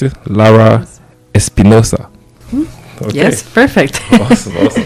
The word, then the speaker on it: Lara-Espinosa: conversation with uh Alejandra is Alejandra as you pronounce it Lara Espinosa okay yes perfect awesome awesome awesome I got